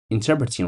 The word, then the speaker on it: interpreting: way of interpreting interpret interpreting right I don't know how pronounce this word anounced interpreting with a stress on the second syllable interpreting okay explaining or